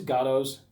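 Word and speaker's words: Gotoh: post, and plus these Gatos, again, Gotos, I don't know how you pronounce it. It's Gato. I like to say Goto because it sounds more how like Japanese people would say it, Goto.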